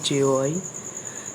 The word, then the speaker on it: GUI: एंड now window is a graphical user interfaced GUI pronounced as JOI between a computer and it's user.